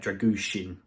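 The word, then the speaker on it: Drăgușin: has had found out how to say it dragusin yeah there you go we would have easily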